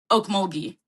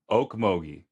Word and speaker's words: Okmulgee: And you pronounce it, what is it? Oak Omogi? Okmulgee. Okmogi.